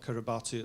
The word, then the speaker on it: Kiribati: in Britain, but also in Kiribati, which spelt Kiribati, apparently it's pronounced Kiribati.